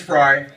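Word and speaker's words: Frey: My last name is Fry. I know you guys know that. It's spelled F-R-E-Y. Most people say, oh, I thought it was F-R-Y or F-R-Y-E. No, it's F-R-E-Y, but pronounced Fry.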